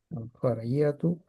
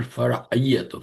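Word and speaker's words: فرعية: Yeah, Fariyatu, basically secondary. That is good. This is just revision, inshallah. So Is it not fara'iyatu? Fara'iyatu. yeah, Fara'i. Fariyatu, yeah. Ain should be pronounced, yes.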